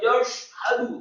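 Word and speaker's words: يَشْهَدُ: Wallahu yashhadu, kata yashhadu, syaknya tafkhim tebal, tetapi membaca huruf syak dengan bibir yang tidak ditutup, tidak yashhadu, tetapi wallahu yashhadu, haknya tafkhim atau tebal satu harokat fathah, kemudian dalnya marfu atau dhamma satu harokat.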